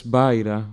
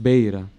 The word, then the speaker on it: Beira: Godfrey reports as Baira, while it is pronounced Beira, as the hill above Barikot II, or Beira Deri, where the early settlement was located.